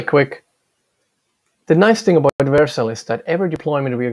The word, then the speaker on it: Vercel: I think it's the right pronunciation, but it's Vercel.